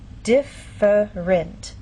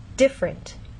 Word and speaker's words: different: here the word different in very slow careful speech and especially formal speech you might get this pronunciation differerent but often in fast speech you lose that middle sound and you get different so again how do